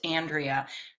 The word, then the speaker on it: Andrea: how how Yes, my name is is pronounced Andrea. Andrea.